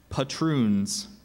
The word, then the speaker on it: patroon: Dutch governments of New York and New Jersey patun are there any alternate pronunciations I only have patun patun p a